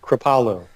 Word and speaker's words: Kripalu: To further his education in ancestral nutrition and lifestyle, he received advanced training at the, now correct me if I'm wrong here, is it Kripalu, or how is it pronounced? Kripalu.